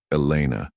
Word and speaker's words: Elena: Elena. He tested the name, noting the slight emphasis she placed on the second syllable.